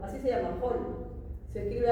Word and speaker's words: Höhl: La pregunta podría ser acá, la célula de Höhl, así se llama, Höhl. Se escribe H O H L.